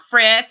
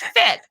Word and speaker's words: Fitz: It's not Fritz, it's not, it's Fitz. So anywho, Easy.